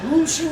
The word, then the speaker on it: München: O München o Múnich, como se pronuncia en el idioma de los Strugenbachen, ¿no?